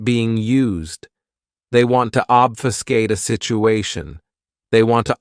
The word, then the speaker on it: obfuscate: is obfuscate this verb has three syllables and the stress is on that first syllable obfuscate what it means to